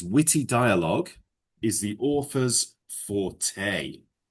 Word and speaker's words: forte: anxiety, No, anxiety is worry for the future. Fort. Yes, but it's pronounced forte. Forte. Yeah? It's a French word, forte.